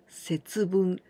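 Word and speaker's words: 節分: Well, we add this kanji, bun, here we pronounce bun. But this is ippun, nifun, sanpun, yonfun. This is minute, okay? And also this is the kanji of wakemasu, to separate. And together, we pronounce setsubun.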